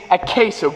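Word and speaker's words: Acheso: The proper pronunciation of the paint is Acaso.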